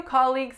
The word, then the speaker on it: colleague: seems really nice so let's look at our syllables colleague colleague which one is the winner the first one cawww colleague so what I usually hear for this word is colleague colleague but what I want you guys to say is colleague so that's that guys